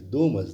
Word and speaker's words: Dumas: o nome do Alexandre Dumas, né, que se a pronúncia correta seria Dumas.